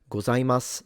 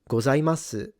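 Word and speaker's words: ございます: So there are some Japanese speakers, and I have had this experience living there, that do pronounce the U at the end. And in fact, as someone who has lived in Japan and kind of understands the nuances a little bit, most speakers will drop the U.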